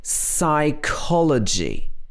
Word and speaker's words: psychology: get confused with this this should be psychology we stress the co psychology and psychiatrist somebody who will